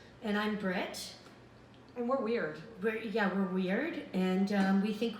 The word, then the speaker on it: Wyrd: It's called Weird. Weird. Weird. Spelled with a Y. Like the Weird Sisters.